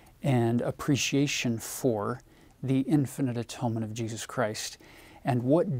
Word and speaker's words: atonement: William Tyndale probably wouldn't have pronounced this atonement. It would have been atonement for him, because it's all about unity and oneness and coming together and unifying.